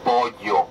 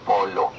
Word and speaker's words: pollo: On dit pollo, pas polo.